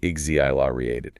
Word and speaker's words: exhilarated: The H is silent and the X sounds like a Z, right? It's hust. So you say it like igzilated.